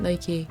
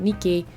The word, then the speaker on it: Nike: name but of course they pronounced it nike okay not nikki and they spelled it